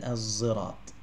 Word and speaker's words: الصراط: So as-sirat is pronounced in three different ways. As-sirat, as-sirat, and az-zirat. Okay, az-zirat.